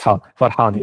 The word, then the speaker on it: Farhani: Yeah, it's Farhani with Ha. Oh, it's Farhani.